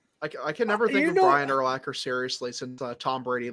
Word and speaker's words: Urlacher: Did you ever see the commercial with is it Brian Urlacher? Is that how you say it? Is it? Yeah. It's Urlacher. Yep.